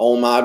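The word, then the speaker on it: OMAD: little bit differently but we call it omod which is just one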